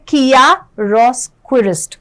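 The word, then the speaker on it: chiaroscurist: देखते हैं, देखो इसकी जो करेक्ट प्रोनाउंसिएशन है वो है किया रोस्क्विरिस्ट, किया रोस्क्विरिस्ट, ठीक है।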